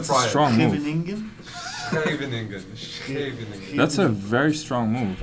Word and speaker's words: Scheveningen: Can you Very pronounce nice. it, Fabiano? Huningen? Where's the beat? Oh wow, Don't that's a try it. strong move. Huningen? Scheveningen.